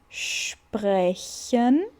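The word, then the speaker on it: sprechen: O SP vai ter assim aqui o som de XP. Opa. Aí vem o R que vem lá do fundo da garganta, como quando você tá fazendo um gargarejo, R, certo? Aí vai é. E agora aquele sonzinho do I que eu falei no início.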